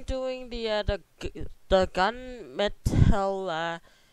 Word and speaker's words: Mettle: the other the gun metella e update the beat such how this say it okay okay m e-ttl e how they say it metal oh ok we're doing the gun metal update so yeah we're